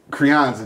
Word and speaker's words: Crianza: Crianza, that's how you say it.